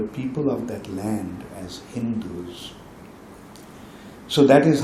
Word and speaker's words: Hindu: say Turks and like they couldn't pronounce the word sa they pronounce sa as ha so while they were saying the land of sind it or land of sindu. They identified that land as Hindu.